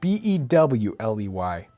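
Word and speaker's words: Beaulieu: Let me see what this says. It says like Bewley. So Bewley.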